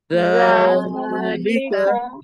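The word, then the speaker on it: ذَٰلِكَ: যালিকা, যালিকা জালটা পাতলা হবে, জানা।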